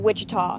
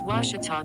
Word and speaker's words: Ouachita: at a baptist university back in texas everybody pronounces it wichita but really it's ouachita washington how would you pronounce it it's washita baptist university get it right it's watertall people